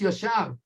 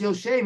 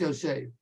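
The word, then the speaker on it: יֹשֵׁב: When you see, like we discussed this morning in the daf, word Yud Shin Beis that should be pronounced Yoshav, and instead it's pronounced Yoshev, and everybody knows it's pronounced Yoshev because it's teaching us a fantastic idea.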